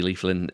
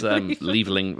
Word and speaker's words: Liebling: Back to fucking Bobby Liefling. Do you know what? It's Liebling.